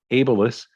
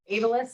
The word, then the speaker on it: Abilis: the ceo of abelis which i have been mispronouncing all this time amy i apologize a b i l i s ableist and their offices where we are joining her